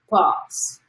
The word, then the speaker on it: pas: he executed the final pass. Raising pass. How do you pronounce it? Pa. Oh, like pa.